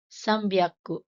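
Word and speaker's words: さんびゃく: Notice the sound changes in 300, sambyaku, rupyaku, and hapyaku for easier pronunciation.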